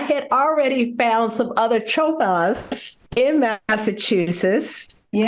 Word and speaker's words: Chopelas: And Chopelas was spelled with a K on the original ship record. Kopelas? That's correct. Chopelas, huh? Yep, Chopelas.